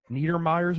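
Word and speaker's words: Neidermeyer's Mind: and how do you say this is it niedermeyer yes niedermeyer's mind yes okay so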